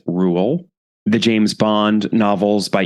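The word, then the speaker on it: Roald: until very recently but apparently the Norwegian way to say it and the way that he would have said it is Rule the James Bond novels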